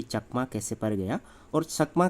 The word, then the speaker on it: चकमा: जैसे ये ती है और यहाँ ती है ना, ये ती यहाँ साइलेंट है और इसका प्रोनाउंस कैसे होता है, चकमा, चक है ना, चक और चकमा।